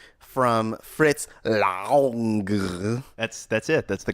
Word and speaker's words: Fritz Lang: Lex, today you brought in the 1931 movie M from Fritz Lang. That's it. That's the correct pronunciation.